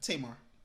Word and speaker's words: Tamar: Tamar.